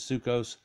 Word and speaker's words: Sukkot: Feast of Tabernacles at the Ashkenazi pronunciation is Sukkos also known as chains